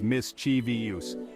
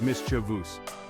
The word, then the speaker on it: mischievous: word is mischievous now you might have heard it pronounced as Miss chiuse but the correct way to say it is Miss chus don't worry it's a common mistake let me break it down for you we emphasize the first syllable Miss and then it's a